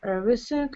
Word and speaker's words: everything: You can get whatever you want, buy everything and anything you want. Just a second, please. Sorry for interrupting. So, such words as selling, everything, anything, should be pronounced without g or k sound at the end.